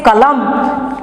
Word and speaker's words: कलम: हम जब उच्चारण करेंगे, इसके अंतिम अक्षर को हलंत के तरह उच्चारण करेंगे तो क्या कहेंगे, कलम।